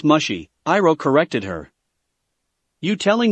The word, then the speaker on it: Mushi: It's pronounced mushy, Iroh corrected her.